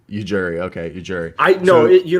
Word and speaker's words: Ujiri: Because the J's not silent. Ujiri is what I call him, but Ujiri.